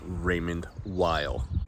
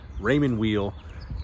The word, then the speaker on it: Raymond Weil: Raymond wheel so yes I know the proper pronunciation is Raymond Weil anyone that's been part of this channel knows that I say things the way I want to say it so I say Raymond wheel get over it back to the show before